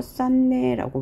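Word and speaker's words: 쌓네: 싼내의 경우도 똑같죠. 먼저 음끝 규칙 적용해서 디귿 바꾸고요. 다시 이 비음 때문에 디귿이 비음화되어 싼내라고 발음하고요.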